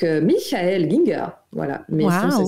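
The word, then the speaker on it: Michael Gienger: certains auteurs, dont justement, je vous le dis à l'allemande, donc Michael Ginger, voilà.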